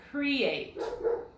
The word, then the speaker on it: create: The accent is on the end. Create.